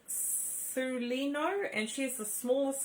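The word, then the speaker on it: Celaeno: her and her name is c i will pronounce it properly so it is called su lino and she is the smallest star of the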